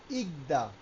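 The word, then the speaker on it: 읽다: যেমন আমরা জানি রিয়াল এবং গিয়ক যদি ভাজছিম হিসেবে বসে সেক্ষেত্রে আমরা কেবলমাত্র দ্বিতীয়টা উচ্চারণ করব। উচ্চারণের বেলা লেখার সময় এভাবে লিখব উচ্চারণের বেলায় আমরা এটা পড়বো কি দাড়াচ্ছে ইকদা কি দাড়াচ্ছে ইকদা এটা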